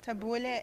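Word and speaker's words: tabbouleh: what you call it we call it taboule okay taboule is how we pronounce it and it's parsley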